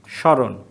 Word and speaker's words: স্মরণ: আরেকটা এরকম স্মরণ। এই দেখো মূর্ধন্য আমরা লিখব না বলছি, সেজন্য এটা স্মরণ, স্মারক। তো তাহলে কি হলো, শব্দের শুরুতে ম ফলা থাকলে সেই ম ফলার উচ্চারণটা হয় না, তবে যার সাথে যুক্ত